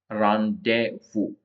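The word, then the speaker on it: rendezvous: में इसको बोलते रिट अब है रावू इसके अंदर जो जड है व साइलेंट बो फ्रेंच वर्ड जड साइलेंट रव नेक्स्ट है एस ए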